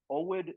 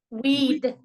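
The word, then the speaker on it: Oued: And it's pronounced Owed Namas? Nope. Weed.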